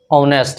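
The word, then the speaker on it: honest: तो यहाँ पे देखिए इसमें एडजेक्टिव पहले क्या है ऑनेस्ट है, ऑनेस्ट ये एच से शुरू हुआ है लेकिन इसका प्रोनाउंसिएशन ओ से शुरू हो रहा है, इसमें एच साइलेंट हो जाता है तो ओ से शुरू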